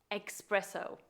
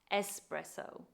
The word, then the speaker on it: espresso: sadly I have heard in England people say espresso which must really hurt Italians ears because the correct pronunciation is espresso or if you want to give it an